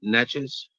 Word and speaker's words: Natchez: It's Natchez.